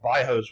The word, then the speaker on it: bairros: And they're called bairros, which has the same origin, bairro, like barrio in Spanish, but they pronounce the double R's like an H in Brazil.